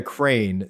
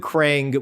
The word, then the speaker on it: Crane: His name is Jeremiah Crane. C R A N E. James pronounced it Crang with a G because Teenage Mutant Ninja Turtles.